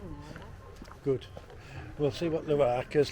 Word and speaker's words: Luarca: Luarca, pronounced perfectly, in northern Spain.